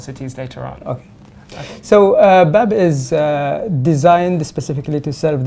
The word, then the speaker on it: BABB: And so we just want to know a bit more about BABB. Is that the best way to pronounce it?